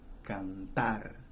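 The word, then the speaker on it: cantar: conjugated we have some examples here kantar i have to stress the la syllable because they end in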